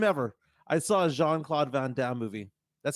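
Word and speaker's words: Van Damme: I saw a jeanclaude vanam movie that's how you pronounce it right jeanclaude jeanclaude vanam or vanam you could say it Von Dam or van vever you want I'll go with Von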